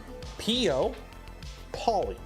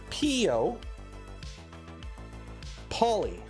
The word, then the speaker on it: Peopoly: Pio as in people, Poly as in poly. PO, poly. PO, poly. Mono, rail. So that's how you pronounce it. It's PO poly. It's people polymer.